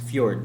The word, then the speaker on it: fjord: Ang fjord, this is pronounced as fjord, no?